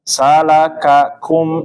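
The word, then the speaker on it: سلككم: Huruf kaf ya, salakakum ya, dua-duanya menggunakan aliran angin.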